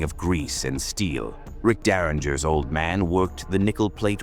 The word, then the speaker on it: Derringer: This is the untold saga of Rick Daringer, pronounced dare in the architect the industry forgot.